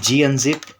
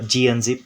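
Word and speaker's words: gunzip: very easy I'll write G unzip or you can say gun zip but the proper way to pronounce it would be G and zip Okay g unzip followed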